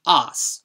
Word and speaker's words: ass: It wound up being spelled like this in England, and in pronunciation they dropped the r after the vowel like normal and started pronouncing it os.